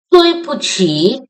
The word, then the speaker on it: 对不起: How we will pronounce 对 in four tone, 不 in neutral tone, 起 in third tone. 对不起, I am sorry.